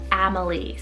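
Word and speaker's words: Amalie: I have two kind of spellings for my next one here, and they both have actually a little bit of a different pronunciation.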